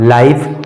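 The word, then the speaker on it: life: एल आई एफ ई एल आई एफ ई इस शब्द में भी अंत में ई आया है तो इसका भी सही उच्चारण हो जाएगा लाइफ और इसमें भी जो है ई साइलेंट होगा ई साइलेंट होगा उसी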